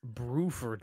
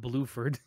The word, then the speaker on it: Bruford: at your face chot I love how all of you are mispronouncing his name by the way it's bruford not blueford I said blord no